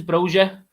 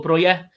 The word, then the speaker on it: Broja: I think the pronunciation's Broja or Broya.